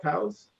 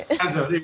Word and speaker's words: Tazo: How do you say that? Taos? I don't. I can't read it. Is it TAOS? T-A-Z-O. Oh, Earl I Grey. just call it Tazo or whatever. Tazo. That's right. Tazo.